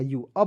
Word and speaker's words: you: की मात्रा होता है लेकिन दोस्तों अंतिम में जब यू आता है तो उसका उच्चारण बड़ा ऊ के रूप में करते हैं तो वाई ओ यू क्या हो जाएगा यू अब बताइए दोस्तों हम लोग